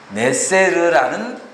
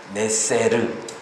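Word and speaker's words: נצר: 단어 있잖아요 나뭇가지이 가지라는 단어의 원래의 발음이 네쎄르라는 단어입니다 네세르 이것이 나사렛이라는 단어하고 아주 비슷합니다 그래서 학자들은 여러 선지자들이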